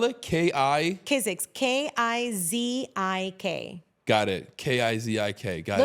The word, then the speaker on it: Kizik: How do you spell it? K-I? Kizik, K-I-Z-I-K.